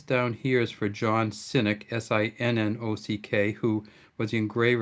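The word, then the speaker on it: Sinnock: the j s down here is for john cynic s-i-n-n-o-c-k who was the engraver of this coin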